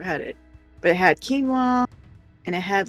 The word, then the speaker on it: quinoa: But like, it was one of those where it came with the dressing and it was, is it quinoa? Is that how it's pronounced? Quinoa, yeah. Yeah.